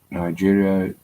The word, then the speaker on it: Niger: there, Mali, Burkina Faso, Algeria, Nigeria, and the Nigeria, the Niger. If you say this Nigeria, so this you pronounce it Niger.